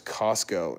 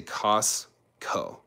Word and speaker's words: Costco: me how to pronounce Costco in your country? So here's the thing. That T, if you have ST, but then you have like a K sound after, you can just 把那个 T 完全略掉.